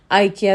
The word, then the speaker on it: IKEA: आइकिया बोलने इकिया बोलने वो डिपेंड करता है, क्योंकि स्वीडिश वर्ड है तो सही प्रोनाउंसिएशन तो हम उन लोगों की तरह नहीं कर सकते हैं, मगर हम लोग जो है उसको आइकिया ही बोलते हैं।